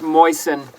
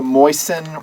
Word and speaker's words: Mosin: different pronunciations don't care it's pronounced moisten it's the moisten naked i just say moisten because people hate moist he's got a lot